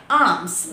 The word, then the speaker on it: alms: Okay, next ALMS, arms. No, it's not arms, it's arms. Should not pronounce the letter L in this word.